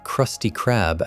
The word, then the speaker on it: Krusty Krab: The hard K sound is sharper and funnier than a soft C would be. Saying Krusty Krab out loud has a